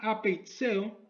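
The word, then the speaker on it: ἀπειθέω: La palabra rehúsa viene de su idioma original, que se pronuncia apeitseo, y es el de no creer, el de desobedecer, el de ser rebelde.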